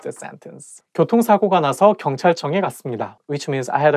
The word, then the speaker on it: 경찰청: department 경찰청 police department so I think It's because CH sound like when is place Next To each other I think going to make the world not easy to pronounce 경찰청 경찰청 and it also has 이응 sound at the end of each character so 경찰청 경찰청 청